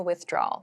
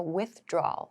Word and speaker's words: withdrawal: So the pronunciation here, with, is the same as with, like do something with someone. This part is a little bit of a challenge maybe. So we don't clearly pronounce draw wow like that. We say withdraw. Withdrawal. Withdrawal is how we say this word.